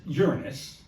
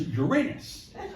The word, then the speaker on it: Uranus: So, there are two terrible ways to pronounce that planet. There's Uranus, which as far as I'm concerned is just a piss poor name for a planet. Yeah, it's so sad. Or there's Uranus and then you